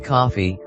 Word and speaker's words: Coffey: This is John Coffey, like the drink, only not spelled the same, and he has been convicted of molesting and killing 2 little white girls.